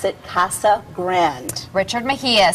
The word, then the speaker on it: Casa Grande: potato it is a Spanish word properly said Casa Grande but again would you call the Rio Grande